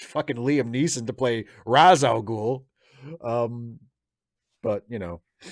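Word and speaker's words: Ra's: there um intergalactic classics i pronounce it race because of batman the animated series but i have been told by multiple people that the the more correct arabic pronunciation is raz so i guess i should pronounce it raz but i still just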